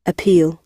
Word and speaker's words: appeal: ওকে, দেখো এটা রাইট প্রোনাউন্সিয়েশনটা কি? appeal, আপিল, appeal, বলো আপিল।